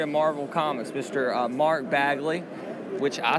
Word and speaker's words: Bagley: people at the website who always pronounces your name mark bagle mark bagley a and i actually talked to your daughter on the way in here i'm like it's bagley right she's like yes so so i can